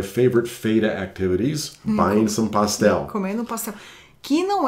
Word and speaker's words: pastel: E é até interessante a pronúncia, né? Porque em português é pastel e no espanhol é pastel. Oh, yeah, that whole L sort of thing.